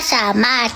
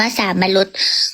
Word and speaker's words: สามารถ: อ่ะ ไป ถ้า สามารถ ทำไม ไม่ อ่าน ว่า สามรุส ไม่ เมื่อ ก่อน น่ะ เคย อ่าน ว่า สามรุส แต่ ว่า อัน นี้ มัน คน ละ แบบ กับ สามารถ มัน เป็น ถอ ถุง ไง มัน เป็น ถอ ทหาร หนู เลย คิด ว่า มัน อ่าน ภาษา รถ เธอ ไม่ เข้า ใจ